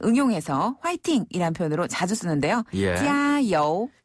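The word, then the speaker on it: 加油: 찌아요. 짜요. 찌아요. 찌아는 더하다란 뜻을 가지고 있고요. 여우는 기름이란 뜻이에요. 그래서 원래는 주요하다란 뜻으로 찌아 여우를 쓰지만요 표현을 이제 응용해서 파이팅이란 표현으로 자주 쓰는데요. 짜요. 찌아요.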